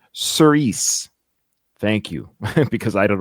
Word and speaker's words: Cirice: It's pronounced Cirice.